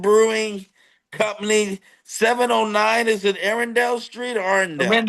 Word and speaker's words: Arendell: Is it Arendelle Street? Arendelle? Rendle Street. Arendo. Yeah, we we pronounce everything a little weird around here. Arindle. That's a Put that twang on it.